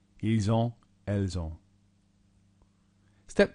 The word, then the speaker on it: ils ont: Notice how you do pronounce the S in this situation where you haven't in other examples because of the next word beginning with a vowel. Ils ont, elles ont.